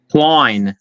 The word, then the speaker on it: Klein: Klein.